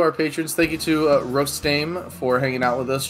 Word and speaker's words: Rostame: It was Rostame, right? Rostame, yeah. He pronounced Rostame.